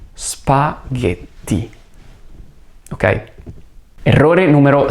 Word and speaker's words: spaghetti: E poi la doppia T, quindi faccio una breve pausa prima della lettera T per enfatizzare questo suono più lungo, che non è una D, ma è una T. Quindi la pronuncia finale è spaghetti.